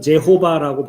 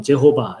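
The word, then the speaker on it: Jehovah: 이제 이것이 이제 번역될 때 영어 성경으로는 제호바라고 번역돼 있죠. 예, 그리고 우리 개역개정 성경에는 여호와라고 번역돼 있죠. 예, 근데 여기 앞에 이 Y자가 어떤 나라에서는 J 발음을 하기도 하거든요.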